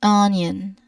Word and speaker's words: onion: Many native native speakers when they say onion often include a subtle J and you know uh right after the N. So it's not simply on onion. It's often more like onion.